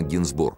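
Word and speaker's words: Gainsbourg: русское имя что немаловажно фамилию исправил на генсбур с ударением на последний слог как и положено французам а он намеревался заставить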